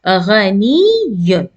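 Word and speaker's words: غنيٌّ: So we will pronounce as ghani, the first ya with sukoon and the second ya with dhamma. Ghaniyun, ghaniyun.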